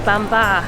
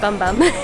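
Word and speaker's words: Bam Bar: Um 10 out of 10 go to bambar cuz we got the name wrong. We were calling it bum bum.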